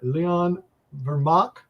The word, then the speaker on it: Leon Vermaak: Leon Vermaak.